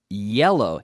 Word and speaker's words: yellow: certainly in North America people eat jello but yellow yeah yeah yeah yellow it's important to be able to properly pronounce those sounds ye yellow and then